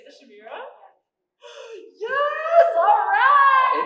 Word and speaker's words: Chimera: Did you say the Chimera? Yes! Alright! It's actually pronounced chimera with a hard K.